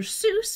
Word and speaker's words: Seuss: Seuss became his pen name and pronounced that way because he wanted the pronunciation to be associated with Mother Goose and because you know most people already pronouncing it that way and he added doctor